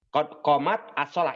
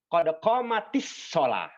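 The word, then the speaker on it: قد قامت الصلاة: Qad qomat as-shalah. Ini asalnya, Pak, sebetulnya. Ya. Qad qomat as-shalah. Ini sukun. Dan ini juga sukun. Ya kan? Maka biar mudah, maka dibacanya jadi qad qomatis shalah.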